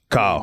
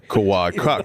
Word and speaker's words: Kawhi: Kyle. Not Kyle. What did I say his name? Kawhi.